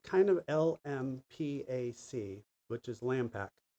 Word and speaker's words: LMPAC: And so we've kind of lmpac, which is lampac. It's pronounced lampac.